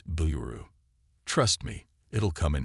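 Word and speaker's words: ビール: got to learn is how to say beer in Japanese it's Blu trust me it'll come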